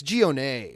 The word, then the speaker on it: Gionet: a french origin like the name gia it's gionae right i mean like that's how you would actually pronounce the oldest recorded birth by social security administration for the name anthony is thursday march 20th 1873.